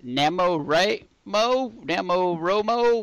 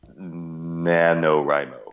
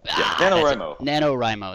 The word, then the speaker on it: NaNoWriMo: You're doing I always mispronounce this. Namo Romo. I got it wrong the first time. I believe NaNoWriMo. NaNoWriMo, that's what it is.